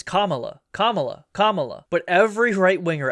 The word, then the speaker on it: Kamala: Camala was uh the Sam can't even say her name right. It's not just reactionaries. She shoe head doesn't say her name right. Shuan head says Camala. Why can't no one say Kabala Harris's name right? Did a Mandela effect into a universe where her name is actually Kamala?